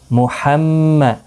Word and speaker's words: محمد: میم پیش مو، حا میم زبر حم، میم زبر ما، محمد، دال را 2 پیش